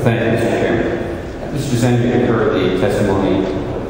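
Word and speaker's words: Zehner: My name is Zender. My last name is spelled Z-E-H-N-E-R.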